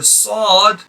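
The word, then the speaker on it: ص: the sh sound sheen this one is sword sword it is similar to the articulation point of seeing but more small portion of the tongue is involved so for example to say the scene is only the front part of the tongue that's used whereas to say the letter sod the sides of the tongue are used to attach to their opposite parts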